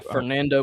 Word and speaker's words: Fernando: How do you pronounce? Is it Fernando? Yeah, Fernando Mendoza.